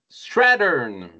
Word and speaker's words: Strathearn: Aujourd'hui, on vous parle d'une disie de Douglas Lin, une série récente et peu connue de Douglas Lan euh Strattern S R a H e A N.